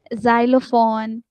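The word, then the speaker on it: xylophone: एक्स आ जाता है तो उसकी साउंड हमेशा जेड की साउंड की तरह होती है। जी पढ़ते हैं उसको। जैसे इसको पढ़ते हैं जाइलम। ठीक है? जाइलोफोन, जाइनोफोबिया। ठीक है? तो ये वाले वो वाले आपके वर्ड्स हैं जिसमें आप इसको जेड की साउंड देते हैं।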